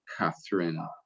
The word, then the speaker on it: Catherine: Bueno, pero en inglés se pronuncia Catherine.